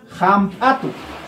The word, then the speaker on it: hampatu: Jesús y Minchispe, H significan J, ¿no? J se pronuncia, ¿no es cierto? Entonces, por ejemplo, ninches, herke, ¿no? Herke, hampatu, hampatu, ¿no?